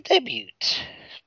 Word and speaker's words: debut: You made quite the debut, bitch. Debut. T is silent at the end.